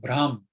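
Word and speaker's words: bhram: notice about this word brahm this pronunciation is different from brahma because the age is following the b not following the a as in brahman okay so this is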